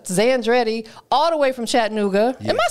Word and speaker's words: Chattanooga: people that aren't from there will say Chattanooga right they leave the A out they leave the A out for whatever reason right exactly so it's Chattanooga Chattanooga y'all get it right or you just say